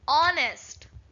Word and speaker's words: honest: So we should first speak out the word honest. When you say honest, we are not getting H pronunciation. We are getting O.